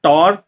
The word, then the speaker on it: Tauer: आज जिस फ्रेगरेंस के बारे में हम बात करेंगे इसके ब्रांड का नाम है टॉर और बेसिकली यह एक परफ्यूमर है एंड टॉर के नाम से।